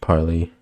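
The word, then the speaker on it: pili: It also has um hairike appendages um called piley or I think it's I think they're pronounced piley.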